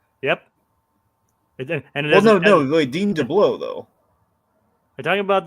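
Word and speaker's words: DeBlois: he saying DEA or is he saying deau it's not deau it's not dblo but there but there is an L there is an L in his name but it's debla debla yeah like that that that you're sure that's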